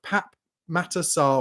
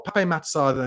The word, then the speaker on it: Pape Matar: into the path of Pap matar or Pape matar as I think it's supposed to be pronounced I always get that wrong H and actually he